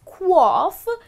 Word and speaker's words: quaff: you is qua well that's how it should be pronounced as qua and what it means